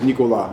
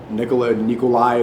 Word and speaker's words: Nicolas: Yeah, my real name is Nicolas. It's a French name. Some people say Nikolai. Americans can't pronounce it properly, so SNEAKO is easier.